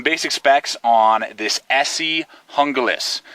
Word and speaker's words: Junglas: specs on this Essie hungus that's how you pronounce it I know it has a j you can say junglist hungus however you want